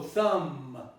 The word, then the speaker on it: thumb: So the ba is eliminated. It's eliminated totally, and you only pronounce up to the ma. So thumb. You don't say thumb.